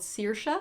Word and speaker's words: Saoirse: to part of the audiobook, and it's called Saoirse, but it's spelled Saoirse.